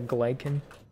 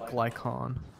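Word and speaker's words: Glykon: where'd you know explore the glycan it's pronounced glycon gluten the gluten explore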